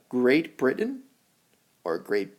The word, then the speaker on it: Britain: It's Great Britain or Great Britain. Great Britain. You don't always say the T. You can say the T. It can be Britain or Britain.